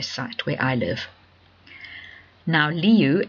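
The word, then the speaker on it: Lieu: Now, leu l i eu is pronounced exactly the same as the word for lion in Dutch and Africans.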